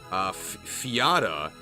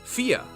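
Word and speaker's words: Fiadh: Fiata is pronounced Fia. Oh, okay, it's Fia. It's an Irish name.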